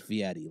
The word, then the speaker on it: Fieri: annoys the fact like it's spelled clearly spelled fear it's like oh no it's viadi like okay yeah I know you can't just change the English language I'm gonna be honest that's the first time I've ever heard anybody say it like that really truly the